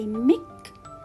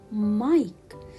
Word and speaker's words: Mike: uh wake up mike can i say mick no teacher why because i have the letter e so when i have the letter i which is followed by the letter e so i should pronounce it i mike so wake up mike